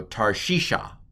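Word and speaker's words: תַּרְשִׁישָׁה: it's a silent schwa this syllable's close tar what's the next vowel the piggybacking with the yod it's a heric yod it's an e sound translated as a long i don't ask why just memorize or die and then finally a kamat's hey at the end so tarshisha to tarshish next next word what's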